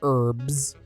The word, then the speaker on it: herbs: Actually, it's pronounced herbs.